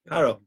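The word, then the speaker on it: פרעה: How would you read that? Paro. That is the word paro. Yeah, do you see that, Roger? Yeah, there's paro.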